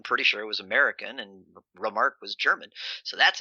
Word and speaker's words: Remarque: Wow, I can't pronounce that name. Eric Marla Remarque?